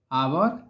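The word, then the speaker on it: hour: नर पढ़ा जाता है वैसे इसको भी अंश पढ़ा जाता है और यह जो है यह तो सामान्य भाषा में इसको हावर पढ़ते हैं लोग लेकिन यह गलत पढ़ते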